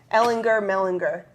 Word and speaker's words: Mellinger: He always said Mellinger. Is Mellinger? Hard G. Hard G. Mellinger.